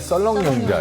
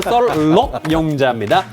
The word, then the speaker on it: 썰럭용자: 그리고 발음을 또 정확하게 썰록용자. 맨날 썰렁용자 이래가지고. 썰렁용자 아니고요. 썰럭용자입니다.